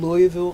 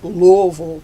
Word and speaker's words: Louisville: up about your family I grew up in Louisville Kentucky pronounced Louisville Kentucky mm-hmm unless you're putting on airs and I don't want to put on airs so I'm from Louisville Kentucky my parents were Willer and married banks